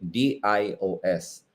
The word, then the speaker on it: Dios: So, di ba sa Spanish, pag sinabi mong God, it's Diyos and you spell it D-I-O-S. Pero kapag ito na, pag consistent ka sa pagbasa sa Bikol or Tagalog, may glottal stop yon. So, sasabihin mo siya, Dios.